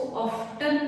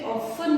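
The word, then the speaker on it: often: Always मतलब हमेशा, ऑफन मतलब इसको ऑफ्टन नहीं बोलते हैं, टी इसमें साइलेंट है, इसे ऑफन बोलते हैं, ऑफन बार बार, कई बार बोलते।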